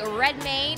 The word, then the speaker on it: Redmayne: I'm here now with Eddie Redmayne. Is that how I say it? That is how you say it, yep.